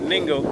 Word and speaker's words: Ningo: But we're actually in New Ningo, n i n g o. Rhymes with bingo with the n.